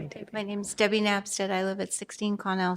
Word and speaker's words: Napstead: Next up, we have Debbie Nessett. I think I said her name wrong. Hi, Debbie. My name's Debbie Napstead.